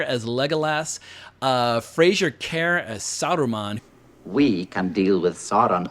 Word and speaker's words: Saruman: They call him Aruman throughout most of the movie, which is one of my biggest grievances against the 1978 movie, because apparently the producers felt like Saruman and Sauron sounded too similar, and so, but it's weird when you're watching the movie, people keep calling him Aruman, like, well, his name's not fucking Aruman, it's Saruman, but then like they'll